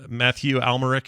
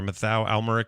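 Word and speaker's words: Mathieu Amalric: Murray Abraham's in it he's amazing um uh Matthew almeric and he said his name or matau almeric he plays the young uh uh boy that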